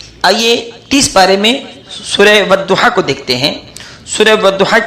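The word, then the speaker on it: والضحى: کچھ بھی نہیں ہے، یہ اپنا میننگ پیدا کرتا ہے مگر تلفظ میں، لفظوں میں اس کی آواز نہیں آتی ہے، یہ سائلنٹ رہتا ہے۔ لہذا کوئی شخص اس کو والضحیٰ اور اذا سجا کو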